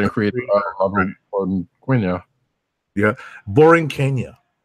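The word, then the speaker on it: La Borinqueña: Yeah, Boring Kenya. Yes, that's how it's pronounced. He actually told me that himself. Okay, it sounds like Boring Kenya.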